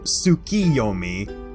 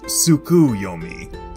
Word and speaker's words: Tsukiyomi: me to also clear up that it is pronounced tsukiyomi not sukuyumi as tsuki in japanese translates to the moon